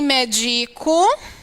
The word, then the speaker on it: medico: Médico é uma proparoxítona. Todas as proparoxítonas são acentuadas. Medico, olha, qual é a sílaba tônica? É o de I.